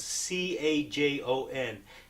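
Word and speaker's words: cajón: I use it my performances and in recordings it's spelled CA Jo n Cajon it's the Spanish word meaning box so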